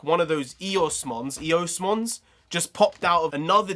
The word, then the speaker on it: Eosmon: Eosmon, that's how you say it.